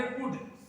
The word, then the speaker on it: could: से जानेंगे कुड, COULD, इसे कुड कहते हैं। यहां एल साइलेंट होता है, ये बात बहुत ही नोटिस करने वाली है कि यहां एल साइलेंट होता है इसलिए इसे कुड कहा जाता है।